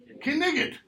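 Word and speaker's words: knight: So, all consonants are pronounced, even those that are silent in modern English.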